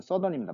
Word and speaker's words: southern: 사우스는 서던입니다. 발음이.